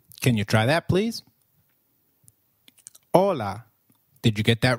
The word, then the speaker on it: hola: you try that please hola did you get that right hola remember h is always silent in spanish we do not pronounce it let me give you